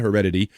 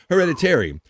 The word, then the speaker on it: Hereditary: I'm going to read about Hereditary since Bobby Nick told me to say it properly, not Heredity. Hereditary.